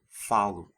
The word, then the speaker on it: falo: in the present tense, the stress falls on the second to last syllable. So it's falo, fala, falamos, falam. Also note that the final vowels of the eu, você, and third person singular forms are weakened to the u and a sound because they're unstressed.